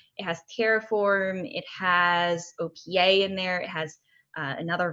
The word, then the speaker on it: OPA: hard installation OPA which is called it's actually OPA book pause I when I'm told how it's pronounced I'm Greek yeah OPA and it's open policy agent we brought it